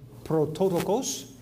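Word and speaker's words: πρωτότοκος: And you look at the word there, if you see it on your blue letter Bible, we pronounce that if you want to pronounce it. It would be prototokos.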